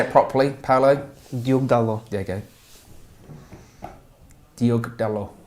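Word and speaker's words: Diogo Dalot: Diogo Dallo.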